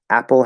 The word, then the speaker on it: apple: are not two p's there are not two p's i will say that a million times apple has one p sound it's spelled with two p's and that's a